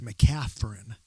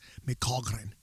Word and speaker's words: McCaghren: in it for some reason the most common mispronunciation is with a ph mcafern mccaffren but even the way that my family says it can't it's not correct it's irish it's michogren yeah wow well we are here post-practice